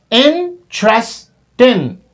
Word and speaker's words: interesting: These are 3 syllables in the native speaking, right? So when we listen to them, so we have to focus that how many syllables they are dropping in their language, in their speaking, right? So the native, they do not perform or they deliver 4 syllables. They speak 1, in, 2, chess, not tress, the sound of che,